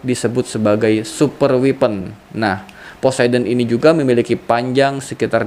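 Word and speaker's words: Poseidon: Apa bacanya nih? Posiden ya.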